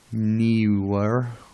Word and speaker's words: Neewer: Next on the equipment list, I'm using a Neewer. It looks like newer, but it's spelled Neewer.